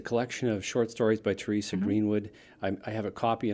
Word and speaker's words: Therese: h ER e SE CA yes I do pronounce it Teresa but my mother is Dutch and so she